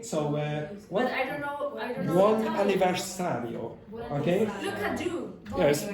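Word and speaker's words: buon anniversario: The waiter had arranged a small cake for them with bone anniversary writing on top.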